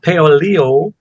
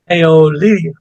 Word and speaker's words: Paolillo: Before we get started, I do want to take this moment and thank my last week's guest, Caregivers Redefined, Giancarlo Paolillo. I pronounced that wrong. Paolillo, forget about it.